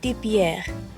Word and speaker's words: Pierre: Pierre Bakery uh okay if you say it in French it's like Pierre so this Bakery is